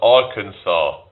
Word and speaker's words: Arkansas: I'm from Arkansas. Why is it spelled like or Kansas but pronounced Arkansas, but yet you've got can It's not Canaw, it's Kansas.